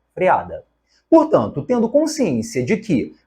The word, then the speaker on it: freada: esta nasalidade aqui e a terceira palavra freiada está errada não existe esse I nós vimos essa palavra também o correto é freada portanto tendo consciência de